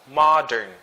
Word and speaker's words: modern: Ma. It's not mo. Okay? Modern.